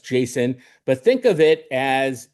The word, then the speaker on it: JSON: You can pron it's pronounced Jason, but think of it as a recipe book for robots.